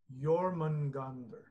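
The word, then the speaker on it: Jörmungandr: do you say well say one more time your man ghandar your man ghandar is that is that astral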